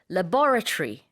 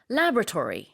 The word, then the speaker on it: laboratory: 자, 영국 발음과 미국 발음이 약간 달라요. 강세 때문에 그런데 laboratory, 영국식 발음이고 laboratory, 미국식 발음입니다.